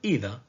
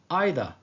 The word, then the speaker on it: either: careful about this note neither and either can be pronounced in two different ways both of them are correct the word either can be pronounced like either or either the second word neither